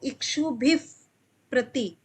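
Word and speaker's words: इषुभिः प्रति: जब सुनते हैं तो इक्षु भी प्रति, तो फ की जो साउंड आती है वो क्यों आती है? हाँ, प नहीं, प की आनी चाहिए। इक्षुभिः प्रति, भिः प्रति, मतलब प की साउंड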